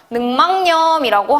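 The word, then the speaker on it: 늑막염: 그래서 최종적인 발음은 우리가 이거 발음 어떻게 해요? 능망염이라고 하는 게 올바른 발음입니다.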